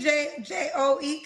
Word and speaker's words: Joe: J O E. How you say it? J O H. I don't know how you pronounce it.